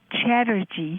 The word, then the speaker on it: Chatterjee: Last name is Chatterjee, Chatterjee. Erjee. Right, like in Chatterbox.